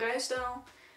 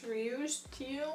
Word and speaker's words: Ruisdael: Then we have Jacob van Ruisdael, which is not Jacob, it's Jacob. Van, not Van. Not Ruisdael, or how you would pronounce it. It's Ruisdael. Jacob van Ruisdael.